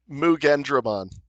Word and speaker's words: Mugendramon: It's the Machine Dramon, or you pronounce it. Mugendramon.